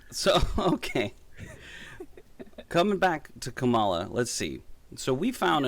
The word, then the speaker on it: Kamala: fellow hosts on fox her name is pronounced comma like the punctuation mark look kamala okay seriously i've heard every sort of one so what that so okay coming back to kamala let's see so we